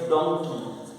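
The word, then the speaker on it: donkey: एम ओ एन के वाई मंकी, डी ओ एन के वाई डोंकी, ये spelling दोनों सेम है, एम ओ एन के वाई को मंकी बोलते हैं, ओ को अ में बोला जाएगा और यहाँ पर ओ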